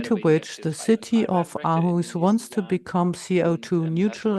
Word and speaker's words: Aarhus: Going further, I'll briefly speak about the Danish city of Aarhus, or Aarhus, as it's pronounced in Germany.